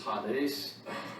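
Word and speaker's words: ᾍδης: directly from the greek the greek word is hot ace it's spelled the same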